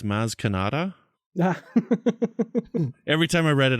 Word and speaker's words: Maz Kanata: It's not Maz Marko, it's Maz Kanata.